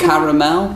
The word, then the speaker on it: caramel: Caramel. It is caramel. See, I think it's just we're I think Americans wanted just the quickest. Yeah. You don't want that extra extra syllable.